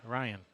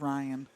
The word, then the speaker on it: Rein: And I asked Leisha, how do you say your name? And she said it's Ryan.